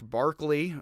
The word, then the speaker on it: Berkeley: descartes spinoza leibniz locke barkley for whom this town is mispronounced as berkeley and kant with few